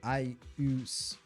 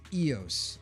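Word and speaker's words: Eous: Flimmer, side note, why do you pronounce it Ius? Isn't the pronunciation Eos? I just say it the way my body instinctively like reads it in that moment of time. I know the correct The correct pronunciation is Eos.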